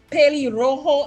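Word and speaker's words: pelirrojo: going to get points understand yes ma'am right P Rojo is red head p p e l i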